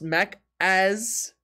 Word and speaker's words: Macca's: i remember this one that guy macca's pronounced mac as okay thank you for